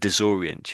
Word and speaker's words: disorient: So I think they're not they're not sort of highlighting it down here but I think there's a little bit of emphasis on the on this O so it's disorient.